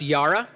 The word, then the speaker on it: yara: See, the Hebrew word there, and this is on the next slide, is pronounced yara, and it means more awe, respect, reverence, and worship.